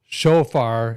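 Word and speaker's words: chauffeur: Matt, chauffear is how you say it.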